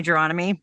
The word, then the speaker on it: Gironimi: my name is jomy my last name rhymes with astronomy in case you're wondering how to pronounce it um I am here